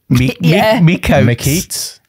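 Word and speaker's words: Miqo'te: Yeah, there is M-I-Q-O apostrophe T-E, Mikoti.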